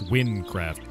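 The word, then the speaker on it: Wynncraft: It's Windcraft. It's spelled W-Y-N-N.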